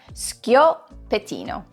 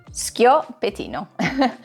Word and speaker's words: Schioppettino: Instead, it makes a skyo sound. And once you get past that, the pettino follows pretty easily. So say it with me now. Schioppetino. Schioppetino. Once you get the skyo sound at the beginning, that is kind of like a bruschetta type sound, it is actually pretty easy.